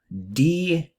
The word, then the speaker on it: detritivore: Detritivore is how you pronounce that.